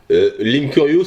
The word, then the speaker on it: Linkurious: Linkurious, ça s'écrit comme Link et Curious, curieux.